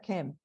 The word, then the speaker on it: Kem: Entonces, la palabra se escribía de esta manera, K-M, y se pronuncia Kem.